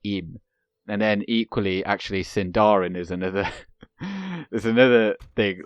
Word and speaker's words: Sindarin: like on the in and then equally actually sindarin is another there's another thing like on that